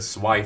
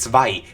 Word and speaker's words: Zwei: Anyway, we botch a heart surgery and move on to the Zwei fixers. Why do I say it like that? Es ist Zwei. Es ist Zwei. Spricht es korrekt aus, verdammt.